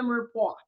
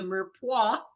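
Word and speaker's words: mirepoix: o iix it's a strange spelling but the pronunciation is Mera so anyway that's a little bit of tidbit of History here so um the first thing we're going to do is sauté the Mera with olive oil if you're using olive or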